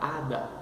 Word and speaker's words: hada: A letra H, o H, como em português, não tem som. Então, a primeira sílaba, a, segunda sílaba, da, Então, vamos dizer el hada, a fada.